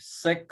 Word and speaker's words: sec: Fifth one we take sec or sec. So I prefer to read it as sec, sec A, because it is the from the full form secant of angle A.